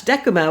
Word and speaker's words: Decuma: golden lasso Gamescom slash deck kuma which is spelled Dec um a it's named after the Roman one of the Roman face and it has the word deck in it which makes me happy